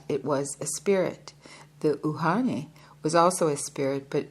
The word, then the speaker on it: uhane: Uhane is pronounced uhane.